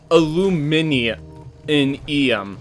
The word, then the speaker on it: aluminium: a sec as a we say aluminium yeah Americans go alumium um God I can't